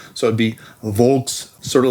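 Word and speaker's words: Volks: So, V in German is usually pronounced with a W. So, it' be Vulks, sort of like folks pistol.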